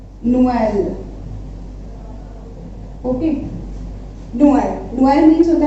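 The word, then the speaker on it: Noël: तो नोएल इसको मिला के पढ़ेंगे, बट अगर ट्रेमा लगा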